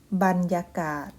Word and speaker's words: บรรยากาศ: นั้น เอง ค่า า มี คำ ที่ ใช้ บ้าน นะ คะ ออก เสียง บาน นำ หน้า มี อยู่ หลาย คำ คุณ ครู ตั๊ก ยก ตัว อย่าง เช่น บรรจบ บรรจง บรรทม บรรเทา บรรดา บรรทุก บรรยากาศ บรรลัย บรรเลง บรรยาย นะ